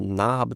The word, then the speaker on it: knob: A gente pronuncia aqui, ó, know, I know. Toda palavra que começa com esse K, por exemplo, knob também, que começa com esse K, e aí